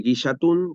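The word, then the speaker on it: ngillatún: Y bueno, y Guillatún se escribe NG, por lo general, un Guillatún como Guille, y es una ceremonia de 3 días en la que justamente se agradece.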